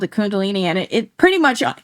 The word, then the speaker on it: Kundalini: Uh you guys also uh released I I can't pronounce How do you The most recent single, how do you pronounce it? Kundalini.